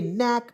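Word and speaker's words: knack: सी की तो देखिए केनेक नहीं पढ़ेंगे नेक पढ़ा जाएगा क्या पढ़ेगा दोस्तों नेक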